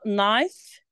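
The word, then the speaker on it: knife: وكذلك لما بنطق بقول نايف، نايف اللي هو السكينه.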